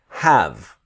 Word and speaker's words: have: or anything like this the e is silent so it's have but when you have